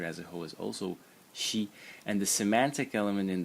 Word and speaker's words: 惜: So the first character in the series is pronounced she in the first tone, and it means pity or regret.